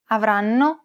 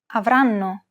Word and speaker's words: avranno: Compare this once again to the syllables in Italian. Avranno.